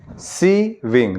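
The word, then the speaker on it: sewing: एस ई डब्ल्यू आई एन जी स्विमिंग। सी विंग देखो जब उच्चारण सही करोगे ना तो मीनिंग भी सही हो जाएगा। उच्चारण नहीं सही करोगे तो गलत हो जाएगा। सी विंग अब मशीन प्लस मशीन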